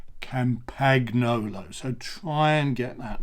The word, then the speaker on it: Campagnolo: your Pavarotti or somebody and say Campagnolo in the same way as you would say pasta. It's not pasta, it's pasta, and it's not Campagnolo, it's not panettone. Don't say panettone, you say panettone, and you say Campagnolo.